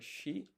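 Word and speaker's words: 四: And then 4 in Japanese, well, it's either yon or shi. Yon you use for counting. Shi, for example, you'd use for April.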